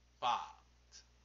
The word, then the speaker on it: pâte: Une pâte se prononce pâte plus longuement qu'en Île-de-France, où parfois on peine à distinguer entre pâte et pâte.